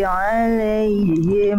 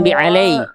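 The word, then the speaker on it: عليهم: Ghairil maghdubi 'alaihim. Jangan bi alai, bukan lay, lay. Alai, nah, la-nya jelas, jangan jadi miring.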